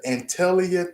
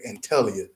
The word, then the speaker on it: Antalya: And during one of my deployments, we went to Antalya, Turkey. Please forgive me if I'm not pronouncing that place right, right? Antalya.